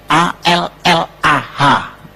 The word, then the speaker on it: Allah: a l l ah cuma Dia membacanya ngejanya beda sama kita kalau kita cukup Allah gitu kayak bercanda sama teman aja allahah lu gitu aja tersinggung gitu ya kayak begitu ringan gitu bacanya itu ringan tapi kalau mereka itu terpengaruh dengan bahasa Arab jadi enggak ringan Allah nah gitu nah dengan